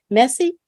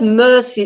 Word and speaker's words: Merci: spelled Mercy like in English m-e-r-c-i but it's pronounced messy messy messy yes it's not Mercy it's Mercy Mercy okay thank you thank you